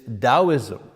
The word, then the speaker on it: Taoism: first of which is Taoism you know you pronounce the T like a D taoism that comes from